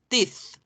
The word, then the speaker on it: teeth: Los dientes se escriben TH al final. T-E-T-H. Teeth.